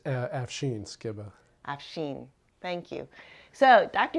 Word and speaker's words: Afshin Skibba: Did I pronounce that wrong? Yeah, it's Afshin Skibba.